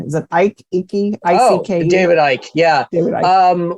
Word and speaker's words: Icke: I can't ever pronounce his name. Is it Icke? Icke? I-C-K-E?